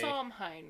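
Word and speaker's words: Samhain: her evil laughter followed by Somhine, right? Sine. Yes. Okay. Sine. Mhm. Uh, that's as at the very least that's how I heard it pronounced. If it is different, correct me. Tell me it's different. Be educational about it. Um, we'll learn. We'll learn things. We'll learn. Happy to learn. But that's how I heard it pronounced. That's how it said it's pronounced. So, we're going with that.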